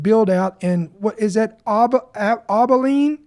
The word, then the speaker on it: Abilene: with the massive build-out in What is that Abilene? How do you say that? Abilene, okay.